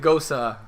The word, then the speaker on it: Gose: Well, G-O-S-E, you Ghost. pronounce it Gosa. Goes So So it's once again, it's Gose.